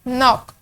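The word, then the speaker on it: knock: नॉक, नॉक हम start करते हैं एन से, तो जो के है वो हमारे पास साइलेंट साउंड है।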